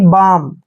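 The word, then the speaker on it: balm: बी ए एल एम जब भी एम से पहले एल आता है वहां पर एल जो है साइलेंट होता है तो यहां पर देखिए बी का उच्चारण हम क्या करेंगे ब और एक को आ की मात्रा पढ़ना है एल का उच्चारण हमने यहां नहीं करना है और एम को पढ़ेंगे मैं यानी कि बाम क्या पढ़ेंगे इसको बाम बाम मींस होता है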